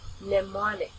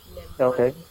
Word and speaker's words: mnemonic: Mnemonic. This is a silent letter M, so you start with N. Mnemonic.